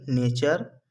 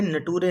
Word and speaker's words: nature: जैसे NATURE नेचर, इसे हमें नटूरे नहीं पढ़ना है, हमें इसे नटूरे नहीं पढ़ना है।